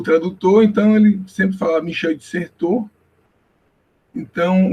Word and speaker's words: Michel de Certeau: A pronúncia do nome, eu tive como professor o Google Tradutor, então ele sempre falava Michel de Certeau.